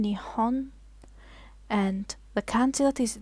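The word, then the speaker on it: 日本: some of you may know it is called nihon or nippon depending on how you want to pronounce it so i am going to be using this pronunciation nihon and the candy that is that are used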